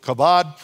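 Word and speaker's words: כבד: you Bible students and it's pronounced it Chabad to be heavy have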